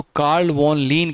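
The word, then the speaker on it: Carl von Linné: इसी को दूर करने के लिए एक वैज्ञानिक है जिनका नाम है कैरोलस लिनियस, जिनको अगर अच्छे से उनके नाम को प्रोनाउंसिएशन किया जाए, उसको कार्ल वॉन लीन कहते हैं।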